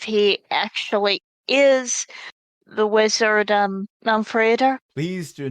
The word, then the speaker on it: Málmfriðr: It's Málmfriðr. polite to Málmfriðr. Málmfriðr. Málmfriðr. Málmfriðr. Málmfriðr. There it is. Not Almond Joy Friedher. It's that one character that's the problem, and that's pronounced the.